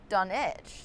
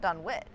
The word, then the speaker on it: Dunwich: am well you know it's actually done edge not done which really you mean they pronounced it wrong throughout the whole movie everyone in the film